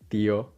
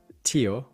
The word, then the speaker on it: tío: Notice the first syllable when you're pronouncing it, the p, th, k sounds. If you notice a burst of air coming out, you are probably saying them with an English or an American accent. Pronounced that way, these words are going to sound like palo, palo, tío, tío, caso, caso. What you want is a more muted sound.